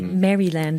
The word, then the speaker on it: Maryland: to the University of Maryland um in the United States yeah right outside of Washington DC Maryland as you would say here um but Al marylanders don't pronounce the Y yeah um yeah so